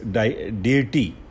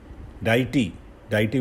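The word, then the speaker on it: deity: और next is डेटी. डाइटी भी बोलते हैं, डेटी भी बोलते हैं, इसकी प्रोनाउंसिएशन अलग है. DIETY. ए गॉड और ए गॉडेस जिनको हम डाइटी बोलते हैं, और इसको डेटी भी बोला जाता है.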